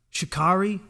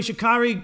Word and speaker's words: Sha'Carri: track on you she's i also like how she her name is spelled because it it sounds like like how it's spelled anyway shikari smoked weed now she